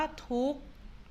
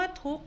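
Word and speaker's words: ทุกข์: ว่า ทุก นะ คะ คำ ว่า ทุก นี้ มี ขอ ไข่ การัน ด้วย นะ คะ ซึ่ง ตัว ไหน ที่ มี ตัว การันต์ อยู่ ด้าน บน เรา จะ ไม่ อ่าน ออก เสียง ตัว นั้น นะ คะ อ้า เอา ล่ะ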